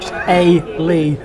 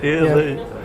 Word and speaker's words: Eilidh: Phonetically written out. Eilidh. Eilidh.